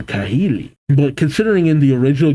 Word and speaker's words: Kahili: Already hearing about Cahili. I think that's how you pronounce her name. Kahili.